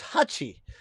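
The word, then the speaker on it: 八: So, the pronunciation of 8 is hachi. But when you put them together, then you put a P instead of an H.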